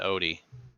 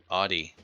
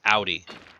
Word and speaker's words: Audi: Audi Porsche uh Porsche Audi not Odie Audi so it's Audi like ow so that's we call